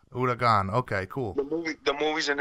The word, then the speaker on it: huracán: It's hurricane in Spanish, huracán. Huracan.